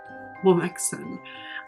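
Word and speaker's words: womxn: Womixen? Womixen.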